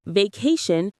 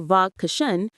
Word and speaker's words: vacation: In the word vacation, we stress the middle part. Vacation, not vash or vagashan.